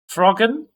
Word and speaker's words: Frogun: Frogun. Is that how you want to pronounce it?